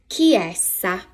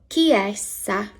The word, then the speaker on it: chiesa: A church is una chiesa. Una chiesa. CH in Italian makes a K sound when the letter I or E comes after it.